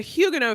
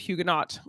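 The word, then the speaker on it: Huguenot: check sheeet what was the name of the Hugo family Shakespeare lived with in London and we learned in this episode that it is actually pronounced Hugo as opposed to hugenot um and I make I made that mistake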